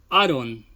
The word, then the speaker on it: Auron: Tidus se pronuncia Tida y Auron, Aaron.